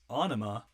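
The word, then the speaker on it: Ænima: another tool classic here anima yes onoma that's how you pronounce it i watched a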